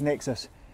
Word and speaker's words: NXIS: It's probably pronounced Nexus, but there you go.